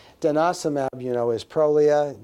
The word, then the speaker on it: Prolia: mm you know is Prolia both countries not Prolia don't say Prolia it's Prolia and that's true it's Prolia don't say Prolia raloxifene